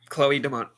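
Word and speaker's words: Chloe Domont: I'm gonna mess this pronunciation up so bad. Chloe Deont. That's right. Yeah, Chloe Deont.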